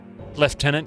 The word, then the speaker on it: lieutenant: Left tenant. Yeah, left tenant. Lieutenant.